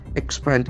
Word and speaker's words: expand: Expand is a very important word. Is a very modern verb actually. Expand. Expand. That's for second syllable.